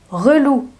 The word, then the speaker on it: relou: Ensuite, relou. Relou. Inversion de syllabe, c'est le mot lourd.